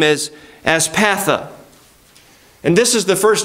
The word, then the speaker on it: Aspatha: Aspatha is the way it says it's supposed to be pronounced.